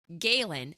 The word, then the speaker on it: Galen: That's how we've been saying it. Are we saying that correctly? You are. Okay. Good. Cuz we struggle with that. Name pronunciations. We are not going to say we're pros at that. You know, I I wasn't either. I was writing his name and I was calling him Gallen for a while and